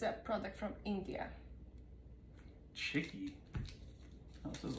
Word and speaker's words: Chikki: I believe it's Chikki, that's how you say it. It's a product from India. Chikki?